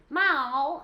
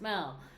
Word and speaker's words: Mel: they do and the people always say my name weird like Mal yeah it's weird yeah M you know that M everybody does like am I milk like no it's Mel um always desperate too